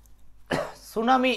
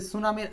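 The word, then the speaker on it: tsunami: বলছেন সাতের এক আচ্ছা সুনামি এইটা অনেকেরই মুখস্ত আছে যে সুনা আর হলো মি এটার সামনে একটা টি আছে যে টিটা আসলে সাইলেন্ট থাকে সাইলেন্ট থাকে সো এটার জন্য একটা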